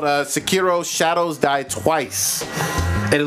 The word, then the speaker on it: Sekiro: Yeah, so it's I think it's pronounced Sekiro. I think it's Sekiro.